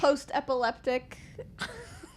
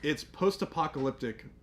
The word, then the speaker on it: post-apocalyptic: post-epileptic. The what? Apologetic. Okay, so when I announced the May challenge, Was it it's post-apocalyptic May.